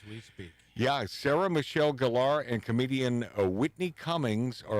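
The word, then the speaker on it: Gellar: she Sarah Michelle gallar a lot of people mispronounce it they they say Geller Geller it's Sarah Michelle gallar I met her I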